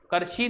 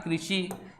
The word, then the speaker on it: कृषि: कृषि, करशी नहीं, क्या पढ़ेंगे? क्री, री है ना, तो उच्चारण में कृषि।